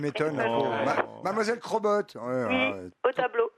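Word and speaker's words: Chrobot: Alors que ça s'écrit C-H-R-O-B-O-T, mais on m'a bien dit il faut dire Crobot, alors j'ai dit C'est bien. Crobot. Voilà, parce qu'on vous appelle Schrobo autrement?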